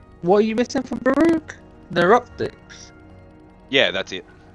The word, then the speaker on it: Baro: saying the name wrong you try to say Baro um oh Baro I've been calling a bakara for so long he was having a